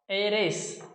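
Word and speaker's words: heiress: ठीक है, इन नाउन्स में एच साइलेंट है, इन सभी नाउन में क्या है, एच साइलेंट है। ठीक है, इसको बोलेंगे ऑनेस्ट, ओ नेस्ट, ऑनरेरियम, ऑनरेरियम ये हो गया, आवर, एयर, एरेस, ये है। देखो कहीं भी एच की ध्वनि नहीं आ रही है, एच का मतलब है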